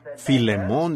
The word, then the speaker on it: Filemón: A veces no pronuncio estos nombres correctamente, aún cuando me lo sé, y a veces no puedo pronunciarlos correctamente por la falta de educación. Así que Filemón dijo alguien allá atrás, lo cual creo que es la pronunciación correcta.